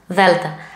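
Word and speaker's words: δέλτα: The and the lowercase, like this, delta. I have heard it like this, delta. No. This is the wrong pronunciation. The right is not d but th. Think the word although in English.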